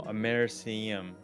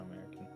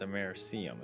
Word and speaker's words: Americium: No, Americium. Oh no. Americium. Not American. I like how you look at it. It looks like American, but it's Americium. It's not how it's pronounced.